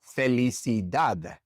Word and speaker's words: felicidad: For example, felicidad felicid. This word ends with a d. It's not a vowel and it's not an n or an s. And so the stress naturally falls on that last syllable.